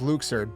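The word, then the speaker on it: Luxord: again luxured luxerd luxert apparently it's pronounced luxured but i i always said luxor and i think everyone did as well so that's the one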